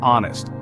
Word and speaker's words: honest: hour another example is honest despite starting with h it sounds like it begins with o so we say an